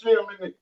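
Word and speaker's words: שם: It would be pronounced Shem it's in the Hebrew.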